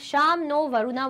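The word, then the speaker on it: शं नो वरुणः: The emblem of the Indian Navy contains the motto Sham no Varuna, pronounced Sham no Varuna, which means be auspicious to us, O Varuna.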